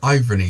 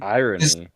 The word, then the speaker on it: irony: For me, the way you pronounce irony is so weird to me. Irony. Irony. Yeah. You you say iron and then add ne to the end.